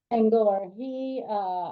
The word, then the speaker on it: Senghor: Senor Yes, Sengor. Senghor.